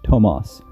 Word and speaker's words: Thomas: and that's how it even though we spell it thomas he was german and he was called tomas he was an extremely